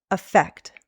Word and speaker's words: affect: The first, with an A, always starts with a schwa sound, affect.